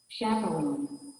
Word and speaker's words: chaperone: So, the CH at the beginning of the word is pronounced what? The CH at the beginning of the word. Sha. Why? Because this word, normally, words which is from French origin, the CH are pronounced what? Are pronounced sh, not ch. Sh like shoe, not ch like chair.